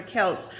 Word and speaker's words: Celts: But the Celts, which could be pronounced with the C or K, so Celts or Celts were anything but barbarians,